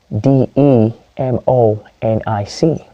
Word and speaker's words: demonic: go to another word d e m o n i c is a hydrogen aic so the stress is on the syllable robber for the ic which is the syllable before the nic which is demonic that is demonic that is the mod